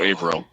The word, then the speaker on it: Averill: It's somewhere between those 2 points, so Averill. Averill. So okay. April, but just slurring it, right? Okay, Averill. April, but French.